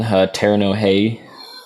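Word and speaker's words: Terno Rei: There's a Brazilian band called Terno Hey that I've been jamming. They're cool. It's spelled TERNO space REI.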